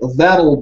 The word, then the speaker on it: that'll: That'll be is a bit more difficult to pronounce, I think. This is the American standard. That'll be, yeah? In British or Australian, you might say that'll be. Yeah, that'll. But the T is more sharp.